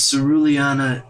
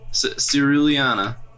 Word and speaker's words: Ceruleana: Pronounce that again. Ceruleana. Ceruleana. Not even attempting it. Ceruleana? It's not that hard. Come on. You're looking at it. I think the Cerulean City.